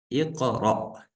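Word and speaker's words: اقرأ: Здесь стоит васля, мы сказали, в начале чтения читается. Здесь огласовка будет и, потому что в третьей стоит а. И мы сказали, если в третьей стоит а или и, то в начале будет и. Икра.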